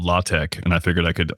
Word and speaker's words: LaTeX: It's pronounced Latte, not latex.